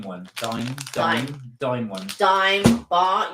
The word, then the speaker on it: Dime: A dame one. Dime. Dime. Dime one. Dime bar. You should know it's pronounced dime.